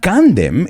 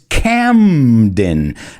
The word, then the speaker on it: Camden: it's here in spain a lot of my students say that they love gandem kandem but it's not gandhim it's camden la eme now i don't